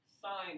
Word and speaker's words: sine: Now, we will not pronounce a sin. It's not pronounced sin. It's a sin to say sin. Okay? It's a sin to say sin of A. Okay? It's sine of angle A.